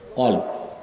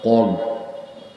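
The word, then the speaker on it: قلب: আপনাদের বাম বুকের 2 আঙ্গুল নিচে হৃৎপিণ্ড, এটা কি আরবিতে বলা হয় কলব। অনেক বক্তাকেও শুনছি উচ্চারণটা ঠিক করে না, বলে কালব। কালব অর্থ কুত্তা, আর কলব অর্থ অন্তর।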